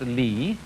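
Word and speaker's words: 理: Do you remember this word which is pronounced li, and which had as its original meaning the markings in jade, the fiber in muscle, or the grain in wood.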